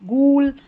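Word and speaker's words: ghoul: कुछ वर्ड्स में जी एच का साउंड ग भी आता है। जैसे कि यहां पर देखेंगे तो जी एच है। इन सारी स्पेलिंग्स में यही स्पेलिंग्स हैं। आप इन्हीं को याद रख सकते हैं। यहां पर इन्हीं स्पेलिंग्स में ग आता है। जैसे गोस्ट यहां पर है यहां पर है गेस्टली या गास्टली। यहां पर है गूल।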